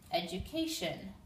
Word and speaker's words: education: just one L here the word education you're going to hear a different sound in here this D makes like a sh sound Ed Edge four syllables